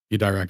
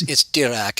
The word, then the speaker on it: Dirac: Dirac didn't say that. Are you sure you quoted dog shit? Because I believe you. Say so. I mean, Dirac was the OG DSer, dog. It's Dirac, and all you needed was the French accent.